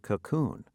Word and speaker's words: cocoon: part of a word when you say cocoon you place the stress on the second part of the word now let's review word